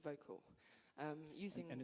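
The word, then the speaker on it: Vokle: this great program called vocal um using and it's spelled differently help me as yeah vocal spell v o k l e and when I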